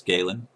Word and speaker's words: Galen: That is his name, I did say it right. Yes, Galen.